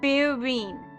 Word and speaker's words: Firene: It's pronounced Firene. So it's Fi, then Reen.